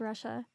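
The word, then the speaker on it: Rasha: Yes, her name is Russia, but it's spelled R A S H A.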